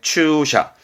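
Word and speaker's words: 駐車: 그래서 주차하는 주차에 추샤. 주차하는 추샤. 그리고 나무목이 붙으면 기둥, 집안의 기둥도 있지만은 그래 전봇대라든가 했던 전주. 그래서 발음은 덴추.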